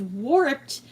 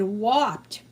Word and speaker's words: warped: But the same thing with warped. My father always said whopped.